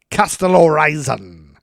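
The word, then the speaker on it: Kastellorizo: Falling 5 miles, the jet struck the water near the Greek island of Castellorizon.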